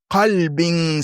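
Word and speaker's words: قلب: Imaginez, vous lisez, vous ne respectez pas bien la prononciation, vous dites, sauf celui qui vient à Allah, illa man ata Allah bi qalbin salim. C'est grave. Parce que kalb, c'est le chien et qalb, c'est le cœur.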